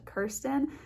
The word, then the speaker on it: Kirsten: My name is pronounced Kirsten, so it's Kirsten's Makeup Vanity is the name of my channel.